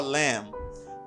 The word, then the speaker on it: lamb: The same for a lamb. Pas prononcer B nan mot ça.